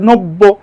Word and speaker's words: নব্য: এখানে বয়ের সাথে জ ফলা আছে, তাই দুইবার উচ্চারণ হচ্ছে নব্য।